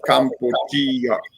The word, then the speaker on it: Kampuchea: They don't pronounce it Cambodia. They pronounce it Kampuchea.